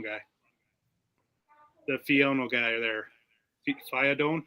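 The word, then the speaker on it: Fidone: Fiadone? How do you say that, Terry? Fadoni.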